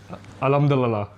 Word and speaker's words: Alhamdulillah: Alhamdulillah.